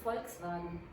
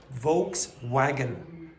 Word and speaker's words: Volkswagen: Volkswagen. Now, do you hear the pronunciation? It's not like what an English speaker would say. An English speaker would say Volkswagen.